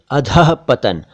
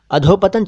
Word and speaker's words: अधःपतन: फिर अधःपतन, अधोपतन चलता है लेकिन सही शब्द तो अधःपतन ही है।